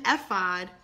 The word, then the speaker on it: ephod: linen ephod I think when mama Leslie told me last night the e is silent wearing a linen ephod David was dancing before